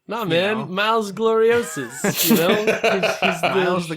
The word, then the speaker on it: Miles Gloriosus: And I'm like, no, it's not Miles Gloriosus. You still, like, if you're going to use Latin words, you still have to pronounce them like Latin in the show. No, you man, know? Miles Gloriosus.